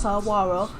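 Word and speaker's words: saguaro: Saro Cactus the Saro Cactus uh grow grows pronounced saaro Cactus grows only in the sonan desert which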